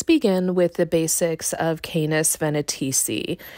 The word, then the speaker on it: Canes Venatici: It's also worth mentioning that I've heard the pronunciation Canis Venatici as well, so I think it just depends on wherever you're located on the globe and what regional accent you have with this.